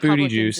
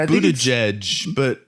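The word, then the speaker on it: Buttigieg: maya pete booty juice it's honestly it's that's about as close as i can get to how it's pronounced for real because i know it's nice isn't it like buddy or whatever i think it's buddha judge booty juice is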